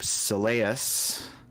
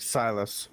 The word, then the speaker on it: Silas: caster in the group soleus did i pronounce that right uh like silas silas okay yeah silas um to trap the